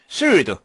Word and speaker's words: sword: sword 칼, 검 이런 뜻이죠. sword 할 때 W는 발음이 되지 않습니다. 우리가 보통 묵음이라고 얘기하는 거죠.